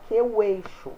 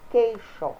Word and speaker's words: queixo: Exemplo: queixo. Ninguém fala queixo, falamos queixo. A letra U não é pronunciada.